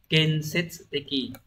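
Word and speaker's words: 建設的: Từ này sẽ đọc là Kensetsuteki.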